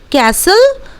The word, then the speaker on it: castle: हम लोग कभी भी विस्टल नहीं बोलते हैं बिकॉज टी is considered to be silent letter over here. So विसल, उसके बाद ठीक उसी तरह कैसल और ठीक उसी तरह लिसन।